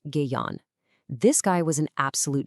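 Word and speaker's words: Gaon: the VNA gone, and that's pronounced Gayon.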